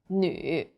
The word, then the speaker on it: 女: The U sound is like the French U. Your lips should be round and pouting. 绿, 女.